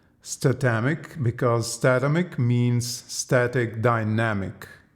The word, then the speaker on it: Statamic: the the CMS author explained ones that is pronounced stomach because dynamic means static dynamic so basically it's